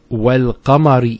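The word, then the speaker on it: والقمر: Then we have wal-qamari idha talaha. Wal-qamar. See, notice the lam here has a sukoon on it.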